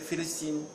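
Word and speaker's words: فلسطين: D'abord, vous savez que le mot, le P, la lettre P en arabe, ça se prononce, le P n'existe pas en arabe, c'est Philistine. Philistine, ils disent et donc en fait,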